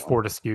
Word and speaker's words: Fortescue: I don't know how to pronounce it. I think it's Fortescue.